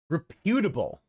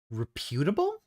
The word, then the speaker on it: reputable: Reputable. Reputable. Reputable. That doesn't sound right. That's because it's reputable, not reputable. The P is part of the first syllable.